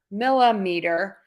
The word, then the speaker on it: millimeter: little bit confusing but when meter is the root word the stress is going to change stay the same meter meter meter meter I'm stressing syllable one when we add centa to the beginning I'm still going to say meter with the same stress when I add Milla I'm still going to say meter millimeter same stress on that